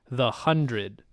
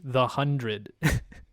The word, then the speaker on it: The 100: on Wikipedia it says the one zero zero parentheses pronounced the hundred really yeah I guess